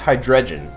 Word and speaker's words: Hydreigon: And last but not least, Hydreigon. Hydreigon. I don't know how you say it. I've heard Hydreigon. No, Hydreigon doesn't make sense. Hydreigon. When you say Hydreigon, it sounds like you're saying the G twice.